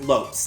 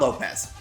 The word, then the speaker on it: Lopes: And yeah, it's apparently pronounced Lopes, like soaps or hopes, not Lopez.